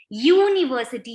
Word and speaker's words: university: beginning with u still when we are pronouncing it the sound is consonant sound its y u that is why we